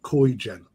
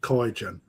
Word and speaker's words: Kaigen: One of them being a new koi food called Koigen. Or Kaigen. I'll say it properly, Kaigen.